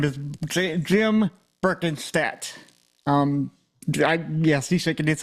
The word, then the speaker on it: Berkenstadt: for you all today his name is Jim berken stat um yes he shaking his head right so